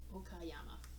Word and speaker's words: Okayama: Okayama. Wow, I'm doing really bad with pronouncing prefectures.